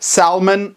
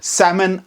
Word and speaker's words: salmon: doing well thank you silent letters salmon Iceland sammon Island learn some common words with